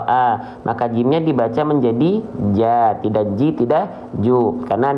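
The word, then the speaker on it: ج: dia huruf yang tebal tapi kalau Jim bukan Jo ya tapi ja maka dia huruf yang huruf yang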